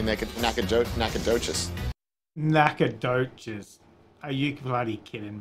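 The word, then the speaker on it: Nacogdoches: to go no chews i bet the g is silent i bet you even said like let's throw a g in there but let's not let's not be able to hear it so it's probably naked naka joke nakadochis are you bloody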